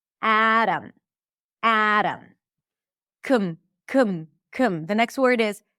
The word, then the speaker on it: Adam: Lemon, Adam, Adam. So the T is a flap T because it's between two vowels in an unstressed syllable. And then the O is reduced because the syllable is unstressed.